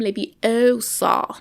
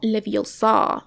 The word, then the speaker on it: Leviosa: It's Wingardium Leviosa, not Leviosa. That's pretty much exactly what he's saying right now. Aloft Elevar! Aloft Elevar! No! Elevar! Don't hold back! Leviosa!